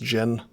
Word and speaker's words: Djinni: think in all seriousness i don't think you're supposed to pronounce the d i think it's just gin oh that's dangerous i